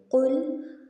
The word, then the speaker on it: قل: بسم اللہ الرحمن الرحیم، قل هو اللہ احد۔ قل، قوف کو موٹا پڑھیں گے، ٹھیک ہے، اس کو کل نہیں پڑھنا، قوف کو باریک نہیں پڑھیں گے، موٹا پڑھیں گے۔ قل هو اللہ، لفظ اللہ